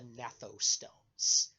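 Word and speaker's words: gnathostomes: the emergence of the natto stones GN silent G G an a th o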